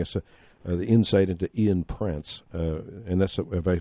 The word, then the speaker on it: Prance: appreciate you giving us the insight into Ian Prance, and that's, have I pronounced it properly? Prance, Prance.